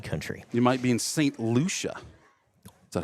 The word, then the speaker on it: St. Lucia: You might be in St. Lucia. Is that how you pronounce that?